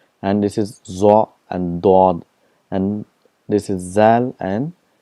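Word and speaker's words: ضاد: For example, for Zwad, in Urdu it's called Zwad, but in Arabic it's called Dod. There's a lot of difference between Zad and Dod.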